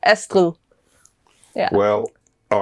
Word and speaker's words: Astrid: is pronounced in Danish EST yeah so the is the D pronounced yeah it's a soft D but it's hardly hearable but it you can hear it like EST yeah well all right